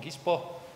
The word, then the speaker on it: Gispo: Okay, so just a few words first about the company that I work for, Gispo, as it's pronounced in Finnish, but yeah, so we are like about 10 years old.